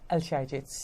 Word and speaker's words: Al-Shayji: Al-Shayji. Al-Shayji, okay.